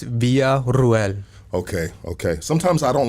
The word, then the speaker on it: Villarruel: Uh, my last name is pronounced via Ruel.